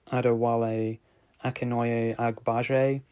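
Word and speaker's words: Adewale Akinnuoye-Agbaje: I don't butcher his name, I think it's pronounced like Adewale Akinoye Agbaje, and I know he was Killer Croc in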